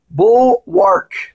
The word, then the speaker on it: bulwark: in Scripture and they have a que sound bull work check this one out it's to fortify and